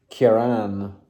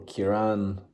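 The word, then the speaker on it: Ciarán: So yeah, the storm Ciaran or Ciaran, because there's a accent on the second A, so I think it's with longer A there, is what is coming and brushing against Ireland.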